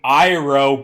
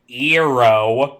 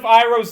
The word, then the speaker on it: Iroh: But you could just change the spelling instead of making Iroh be Eero. Sokka being Soka, Aang being Aang. Add an A to the front of Iroh's name when it's written down.